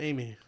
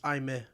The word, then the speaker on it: Aime: Her name isn't Amy. Amy. It's Aime.